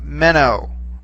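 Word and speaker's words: μένω: word so for instance take the word uh meno okay meno meno means I remain or I am remaining it's present tense however when I shift the accent to the final syllable to get men okay that means I will remain all right so accents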